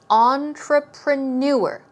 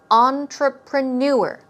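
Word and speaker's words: entrepreneur: here we go now notice the stress goes on the last syllable on the fourth syllable and it is entreprenuer entreprenuer one more time stress goes right there entreprenuer okay we're talking about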